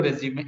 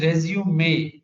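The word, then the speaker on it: résumé: Next is you need to also know the CV or resume. It is resume, not resume. Resume is a verb which means to start again, but resume is different. It is pronounced as resume.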